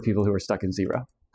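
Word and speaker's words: Xero: So a zero which is spelled with an X by the way.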